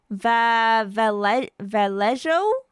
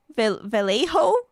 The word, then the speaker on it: Vallejo: Vallejo. Wait, is the L. Some people are saying it's like pronounced Y E. The double L is a Y.